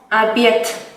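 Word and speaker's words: обед: O la palabra abiet, que significa cena, se pronuncia como abiet.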